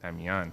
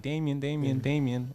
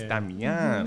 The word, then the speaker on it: Damian: So it's pronounced in the Latin language like Damian.